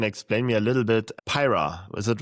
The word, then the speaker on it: Pyra: Pyra. Is it right? Did I say it like this? Pyra.